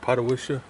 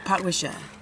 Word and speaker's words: Potwisha: Patawisha? Oh, I think it's Patawisha. Potwisha.